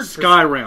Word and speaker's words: Skyrim: to pronounce that word Skyrim Skyrim sky as in there's a big thing above us Rim as in I'm going to give you a rim job job I'm look it